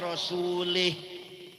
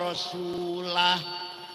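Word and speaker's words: وَرَسُولُهُ: Wong maca Quran salah. Wa annallaha bari'um minal musyrikin wa rasulih. Allah tidak melindungi orang musyrik dan tidak melindungi Rasulullah. Salah. Yang benar bacanya wa annallaha bari'um minal musyrikin wa rasulah.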